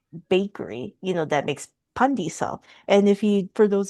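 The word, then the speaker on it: pandesal: Um but correct pronunciation is pandisal, not pandisel. Like do not Americanize.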